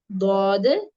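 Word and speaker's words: ض: Are learning this is the correct way ഓഫ് pronouncing these letters. Okay, ദ്വാദ്.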